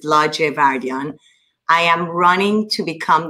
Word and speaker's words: Ladjevardian: my name is la giavardian i know it's difficult to pronounce but it's larger vardyan i am running to